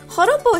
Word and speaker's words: joropo: Now, joropo is spelled with a J. In Spanish, the J is pronounced with a H sound.